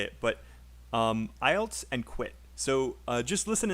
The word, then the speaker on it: IELTS: It's a little bit hard to know how to say it, but IELTS and quit. So just listen and say with me really fast. I've just quit. I just quit Better. Nice. Studying IELTS.